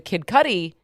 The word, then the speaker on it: Kid Cudi: The racketeering, though, includes arson, and so the Kid Cudi, is that how you say his name?